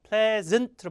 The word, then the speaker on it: pleasant: 자, pretty much the same 해야 되는데 pleasant라는 단어가 발음은 어렵지만서도 매우 매우 좋은 단어입니다. pleasant로 발음해야 돼요. pleasant. pleasant가 아니라 pleasant.